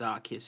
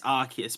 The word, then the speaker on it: Arceus: you know pokemon legends arcus has just come out it is arceus by the way i have heard from people that's how it is supposed to be pronounced and i'm gonna give